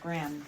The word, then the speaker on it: Graeme: I think it's pronounced Graham.